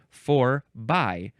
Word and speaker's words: forby: We have the word in English, by. We also have the word in English, bye, both pronounced by. Bye-bye. Forby. So that's what this is. It's a preposition from the 14th century. If this word had been spelled Forbie, then it would have been forby.